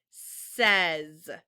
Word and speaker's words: says: that sounds so silly this is the word says say that word says spell it with me s-a-y-s says without the suffix